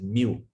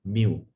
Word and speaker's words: mu: D，centi 是 C，milli 是小 m，micro 是这个好像 U 这样子，可是它的耳朵比较长。这个我们叫它什么？叫它 mu， is pronounced as mu， M-I-U, mu.